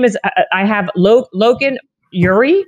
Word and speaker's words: Logan Ury: So your name is, I have Logan Ury. Is that how you pronounce it? Yeah. Logan Ury.